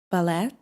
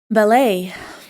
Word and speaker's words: ballet: Is it ballet? Ballot maybe? No, it is ballet.